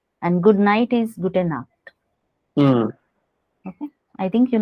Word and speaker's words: Nacht: For pronunciation, I have written NAKT, like pronounce, how to pronounce.